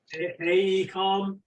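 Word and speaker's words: AECOM: we've had charts from Acom in my uh pronouncing that correctly Acom hey come okay and I was particularly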